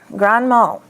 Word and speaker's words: grand mal: Yeah, the D is silent and it's not grand, it's grand. Grand mal.